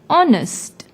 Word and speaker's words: honest: see the word honest although it starts with H it is silent when we pronounce the word honest since the second second letter is the vowel o we put n before the word honest p m the shopkeeper